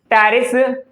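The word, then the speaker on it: Pteris: जैसे कि टेरिडियम, टेरिस एंड मार्सेलिया। क्या नाम है बेटा? टेरिडियम, टेरिस एंड मार्सेलिया। ये पी साइलेंट है।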